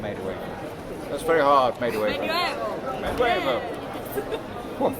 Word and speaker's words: Medway: Medway.